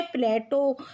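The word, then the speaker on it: Plato: अंग्रेजी के अनुसार इसका उच्चारण क्या है? प्लेटो। यूनानी उच्चारण क्या है? प्लाटोन। और अरबी में ये क्या बन जाता है? अफलातून बन जाता है। तो उपर्युक्त तीनों कथन सही हैं।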